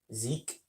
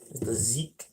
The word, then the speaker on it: Zeke: Zeke, I believe is what I was told it was pronounced as. The Zeke.